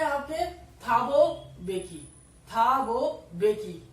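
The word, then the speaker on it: Thabo Mbeki: थाबो बेकी, ये जो है थाबो बेकी, इसमें एम साइलेंट है।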